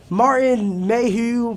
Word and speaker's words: Martin Mayhew: And it's just Martin Mayhew, that's how you pronounce his name.